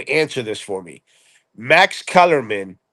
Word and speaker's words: Kellerman: Kellerman.